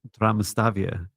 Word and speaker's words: Damastavia: And so they they the pronunciation is uh Damastavia and it's almost a T. It's like a silent T at the start.